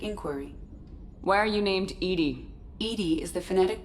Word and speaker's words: EDI: have a specific inquiry why are you named Edie Ed is the phonetic pronunciation of Eed I that is an acronym